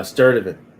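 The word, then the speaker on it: Sturdivant: Now, how do you say your last name? Uh, Sturdivan. Sternovan. Okay. Yeah, Sturdivan. Yeah, I know. Get a little tricky, but yeah, it's a little tricky.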